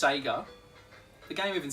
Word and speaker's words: Sega: at the front always says Seger and it's pronounced Sega the game even says say yeah but Australian